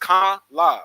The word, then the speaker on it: Kamala: and contining here first my name is pronounced K la like the punctuation mark it means lotus flower